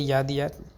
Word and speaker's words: Yadea: একটা বিষয় হলো আমি যেটা এতক্ষন ওয়াইডি বলতেছিলাম মূলত এটা উচ্চারণটা হবে ইয়াদিয়া ইয়াদিয়া টিফ।